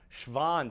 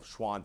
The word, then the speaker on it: Schwann: so that's actually pronounced Schwann cells this is actually sounds like a V but because we're in America we're going to use the W sound to call them Schwann cells but let's go